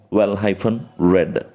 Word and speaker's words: well-read: Well-read. And it's not read, we should be pronouncing it as past tense, past participle. Read, well read.